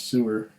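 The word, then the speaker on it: Suir: the banks of the river sewer sewer s-u-i-r but I guess it's pronounced sewer since 1792 a time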